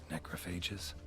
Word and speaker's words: necrophagous: gone chewed out macrophages does he actually pronounces it some phages back through here bodies didn't say phage sort of a smoother sounding gh rigor mortis suggests poison